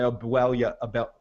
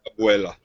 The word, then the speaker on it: abuela: These two motherfuckers called my grandma, my abuela, what? How do you pronounce that? Abuela.